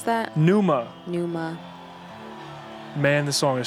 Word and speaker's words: Pneuma: How do you pronounce that? Pneuma.